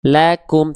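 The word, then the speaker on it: لكم: S maka di sini dibaca bukan lakum bukan tapi lakum. Lakum. Tipiskan pelafalan huruf lamnya karena fathah dia vokalnya vokal A.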